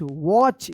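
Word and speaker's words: watch: ए टी सी एच वॉच यहां पर जो है ना टी साइलेंट है वॉच एंड अनदर ए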